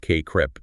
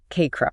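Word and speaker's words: CACREP: And this competence in selecting appropriate tech aligns with broader standards too like the KRAP pronounced KREP 2024 standards for counselor education programs. KREP.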